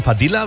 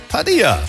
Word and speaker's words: Padilla: dachte mir das schon, da du ja kubanischen Ursprungs bist, ne, wird das nicht mit Doppel-L ausgesprochen, Padilla, wie es viele sagen, ne, sondern Padilla. Ja, mittlerweile sage ich auch Padilla.